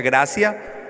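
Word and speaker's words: gratia: de una palabra en latín gracia así se pronuncia gracia pero se escribe con té gratis y si esa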